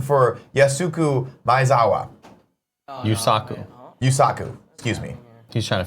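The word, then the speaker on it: Yusaku: here's your audition for yes suku by zawa yuusaku yuusaku excuse me he's trying to figure it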